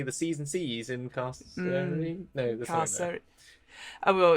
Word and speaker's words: Carceri: No, I think Carceri, hard C. I believe according to Chris Perkins, it's like incarceration.